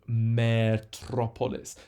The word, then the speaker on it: Metropolis: catastrophe antithesis bacteria and Metropolis so in English we say Metropolis with a short e but in Greek that word actually has a long e so hence the eer